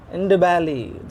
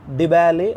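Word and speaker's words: Ndebele: I am and Ndibali. See, it is pronounced as Dibali or Ndibali. Often you can ignore N. It is actually a silent letter.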